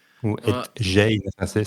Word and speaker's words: Gein: peut-être un des plus connus, qui s'appelle Ed Gein. Ou Ed Gein, ça s'écrit G-I-E-N.